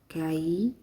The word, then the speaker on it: Kai: My favorite router of the group, longtime activist and artist Kai, pronounced Kai, in her half-teasing, wholly productive way, queried the group, "We doing all this fighting for liberation?